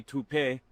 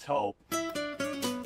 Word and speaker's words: Toop: Maybe Toupee. Could be Toupee. Yeah, I don't know. Or Taupe Insurance, Nah, maybe? I don't think so. Say it right. That's T-O-O-P. That's Taupe. Oh, it's Taupe. That's Taupe Insurance in Castleton.